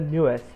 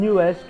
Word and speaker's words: NU'EST: I hope I'm pronouncing it right. It's newest, right? I've heard them pronounce it, or I've heard people pronounce it as newest.